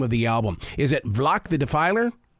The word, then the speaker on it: Valak: Is it Valak the Defiler? It's Valak the Defiler.